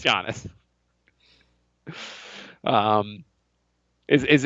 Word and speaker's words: Giannis: of KP is it is it Janice or is it Giannis well we're in America Jay it's jannis um is is it's